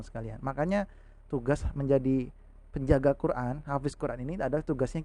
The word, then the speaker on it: Qur'an: bukan alamat tapi alamal Quran ini huruf qaf ya bukan huruf Kaf huruf qaf bacanya zona qur-an qur-an Nah ini baru Hamzah